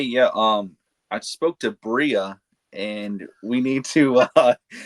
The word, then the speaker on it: Bria: It's spelled B R AI. It's Bria.